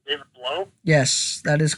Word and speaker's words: Blough: I guess that's how you say his name, David Blough?